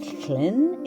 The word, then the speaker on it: Llyn: It's a Welsh spelling. It means lake in Welsh. You pronounce it Llyn if you're going to pronounce it correctly.